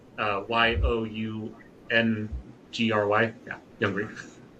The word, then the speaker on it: Youngry: So, it's spelled like Young Plus Hungry. Uh, Yo U N G R Y.